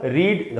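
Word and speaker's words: read: और इसको पढ़ेंगे कैसे, ऐसे वो यहाँ उच्चारण लिखा हुआ है इसको, कि इन दोनों को रेड पढ़ना है।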